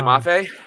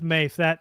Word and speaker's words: Mafe: Pretty sure it's Mafe. I'll double check that right now. Boye Mafe. I just highly doubt it's Mafe. But it should be. I'm gonna love it. It's Mafe. No, I understand that, but if you think of any language origin and pronunciation, I'm listening to Goodell. Oh, the last name is pronounced Mafe though.